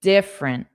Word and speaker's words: different: But at the end of different, rent different. It's an unstressed sound. is that schwa sound which is why we have that upside down e which represents the schwah.